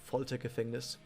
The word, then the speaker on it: Foltergefängnis: Her, by the way, her Magia is called Foltergefängnis. That's how you pronounce it.